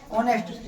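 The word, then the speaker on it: honest: फिर देखो एक इसको देखेंगे, क्या है ये, ऑनेस्ट, क्या है, ऑनेस्ट, उच्चारण क्या है, एच, एच वॉवेल है कंसोनेंट, कंसोनेंट है, कंसोनेंट है, तो क्या लगना चाहिए, ये।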